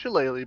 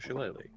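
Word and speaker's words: shillelagh: that how it's pronounced chele yep it's pronounced chele because the chal is a type of Club made by the Irish so I'm going to turn my Quarter Staff into a shalele all righty and then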